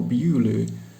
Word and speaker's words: Beaulieu: Head and the words Beaufort, spelled Beaufort much as our Bewley is pronounced Beaulieu.